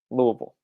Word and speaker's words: Louisville: watch from all over the country it is pronounced louisville louisville louisville so we will the rest of